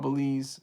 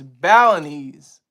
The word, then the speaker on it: Balinese: the people are called Belize where he is right now. Oh, excuse me. Balinese. I've been saying it correctly. Thank you for the correction. It's Balinese. It's Balinese. Not Belize.